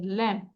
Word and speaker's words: lamb: এর উচ্চারণ করব না LAMB ল্যাম্প জাস্ট বি বলবো না COMB কম কম থাম